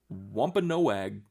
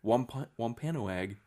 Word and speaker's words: Wampanoag: Wampanoag. Wampa? It is. The first part of it is Wampa. Sure. Wampanoag.